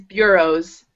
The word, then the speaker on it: bureau: I feel funny saying it because it's a French word and I want to say it the French way. Yeah. Yeah. But the English way is like this be sound. Beer bureau. Bureau. It doesn't look like a b be ber. It's like be beer. Yeah. Yeah. Beer be beros. No, but it's something different. Yeah, it sort of sounds like there's a Y in there.